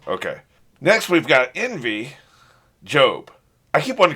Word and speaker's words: Gob: next we've got envy job i keep one called gob because that's how it's spelled but he wants to be called he wants to be pronounced job okay whatever he's envious